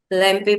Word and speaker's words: lampe: Lampe will be lamp. Yeah, that's lamp only.